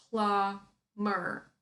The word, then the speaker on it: plumber: careful guys because here we spell this word with a B but we don't pronounce this word plumber plumber plumber so no